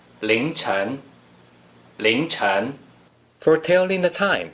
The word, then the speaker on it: 凌晨: 凌晨 can be used to indicate the time period before dawn. Please pronounce it after me. 凌晨凌晨凌晨 For telling the time, 3:07 a.m.